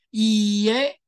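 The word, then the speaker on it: いいえ: a，一样，前面是长音，所以要念成以耶，它就是不的意思。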